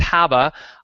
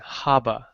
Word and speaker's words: Haba: It rhymes with Rabba if you're from Boston.